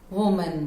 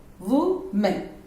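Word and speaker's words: women: Fourth word, normally हम इसको वुमेन बोलते हैं, वुमेन, इट्स नॉट वुमेन, इट्स विमेन, विमेन।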